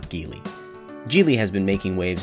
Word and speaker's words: Geely: Yes, it's pronounced Geely, not Geely.